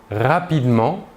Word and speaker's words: rapidement: Le E caduc précédé d'une seule consonne prononcée, cette consonne est donc prononcée, le E caduc n'est pas prononcé. Nous dirons par exemple « samedi »,« rapidement » ou encore « Catherine ».